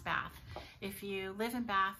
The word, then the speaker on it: Bath: And it is pronounced Bath.